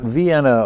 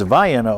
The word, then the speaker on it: Vienna: That's not Vienna, Ohio. It's Vienna, Ohio.